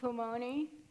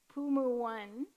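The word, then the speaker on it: Pulmuone: because during the market, Pumu1 came by, and I told them that I've heard so many people mispronounce Pumoni, and I was like, they're not Italian, folks.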